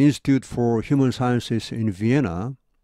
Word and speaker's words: Vienna: At the Institute for Human Sciences in Vienna. 자, 우리말로 비엔나죠. 영어에서는 비엔나 안 합니다. 이 n이 두 개지만은 영어에서는 자음이 두 개 겹치면 그중 한 개만 발음합니다.